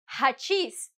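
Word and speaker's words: hachís: Uh but here I'm saying that hachis. I'm pronouncing it as if in Spanish I would be using a J.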